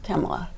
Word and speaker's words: Kamala: Well, let's talk about Kamala and her position. Okay. Are you saying Kamala or are you saying Kamala? I say Kamala because I don't see any point in deliberately mispronouncing a name.